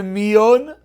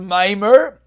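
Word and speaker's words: maamar: the brother does a Miyon. What's the halacha? Says I keep saying it wrong, the brother does a Maimer.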